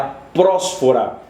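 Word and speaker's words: προσφορά: a prós fora é a prós fora é assim que se pronuncia que significa eh vem do grego a palavra grega para oferta prós fora o acento ró prós fora e esse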